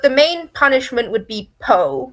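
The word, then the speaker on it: POH: main punishment would be poe which is spelled p-o-h which is privileges on hold you would be stuck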